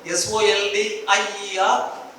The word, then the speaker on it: soldier: SOLDIER? Soldier. Where is the J? How come J there?